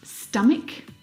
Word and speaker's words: stomach: CH combination words like stomach and ache the CH in all of these words is pronounced like a C Sound my brother is an